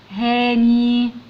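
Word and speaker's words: Hany: الولد الجميل ده اسمه اهو زي ما انتم شايفين، الاتش بتنطق ها، ندخل على الايه ها، ندخل على الان هان، والواي تنطق ياء تبقى هاني هاني.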